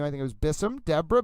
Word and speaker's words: Bessum: I just want to make sure I pronounce the last name. I think it was Bissum. Deborah Bessum, B-E-S-I-M.